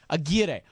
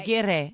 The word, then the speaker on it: Aguirre: Just come in and pronounce it. Aguirre.